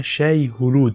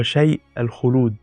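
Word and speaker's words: Shai-Hulud: بقى للفريم فهم بيعب حاجه اسمها شاي هلود زي ما بينطقها بس احنا بقى ده ده العربي بتاعنا بقى النطق الصح ليها هو شيء الخلود لان ههم ما عندهمش الهمزه دي الفريم بيعبدوا او بيقدم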